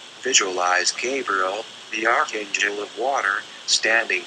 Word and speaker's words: Gabriel: Say, behind me, and then vibrate, Gabriel, pronounced Gabriel.